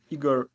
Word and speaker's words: Igor: morning wrong um yeah some of my friends they call me Iger but Iger generally like is uh probably the more correct way like ke go so